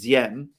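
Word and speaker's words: Diệm: And to discuss the potential parallels between President Diem, to give the name as apparently it should be pronounced, and Zelensky many, many times.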